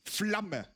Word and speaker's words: Flamme: It also shows just how like abrupt German is with like speaking, because in German it's Flamme. You have like this very fast way of pronouncing it, which is also comes back to the original point of me like mixing up pronouncing yeah?